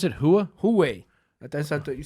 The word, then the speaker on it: Huawei: How'd you pronounce it? Hua? Huawei.